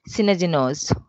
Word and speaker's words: Synadinos: Today we have Damian Synadinos with us.